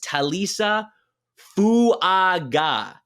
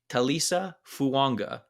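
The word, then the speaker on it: Taliese Fuaga: If you look on Oregon State's website, they have a pronunciation guide, and it says Talisa Fuaga.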